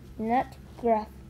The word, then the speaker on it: nutgraf: Pronounced NUTGRAF.